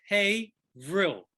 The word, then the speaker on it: Haverhill: where the museum is haverill hevro pretty close april uh one day francesco i would get it uh haverhill harold it's spelled haverhill but pronounced hey vril oh hey bro okay